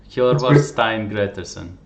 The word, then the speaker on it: Hjörvar Steinn Grétarsson: please say your name I'm so bad at pronouncing names killer Stein great dissing yeah you know it's one of those things